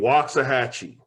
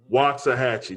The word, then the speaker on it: Waxahachie: day i think there are syllables added in there this city in rio knows the city the city is named waxahachie waxahachie not what you said